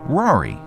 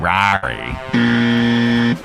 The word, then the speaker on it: Rory: It should be Rory, but idiots from Boston ruin it by saying Rory.